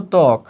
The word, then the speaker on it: ত্বক: এটা কিন্তু তয়ের সঙ্গে ব আছে, কিন্তু তুমি উচ্চারণ করছো ত্বক, তাহলে বটা কোথায়?